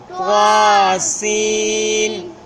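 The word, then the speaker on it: طسٓ: اس کو پڑھنا ہے۔ طاسین طاسین، تھوڑا سا زور لگا کے پھر صحیح اس کا تلفظ ادا ہوگا۔ طاسین طاسین۔ ناظرین اس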